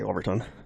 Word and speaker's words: Overton: It's spelled Overton. Overtown Bridge? Overtown Bridge? Just say Overton.